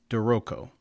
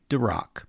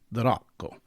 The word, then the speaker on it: D'Rocco: And say the rock, please, not drock. Ideally, you'd trill the r a little bit and say the rock.